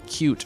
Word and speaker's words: Qt: simple application and yes I'm aware that I'm pronouncing cute wrong but saying an official cute language sounds weird so I'm just going to refer to it as QT to get started with